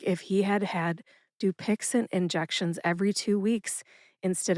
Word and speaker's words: Dupixent: The brand name is Dupixent. Dupixent has three syllables. That's do like duel, pix like pixel, and ant like the last syllable in the word president.